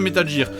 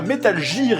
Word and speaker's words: Metal Gear: d'ailleurs vous l'aurez remarqué je prononce sa métal gier et non pas metal gear et ya deux raisons à cela la première c'est que j'ai été induit en erreur quand j'étais jeune par les pubs pour la gaine girpi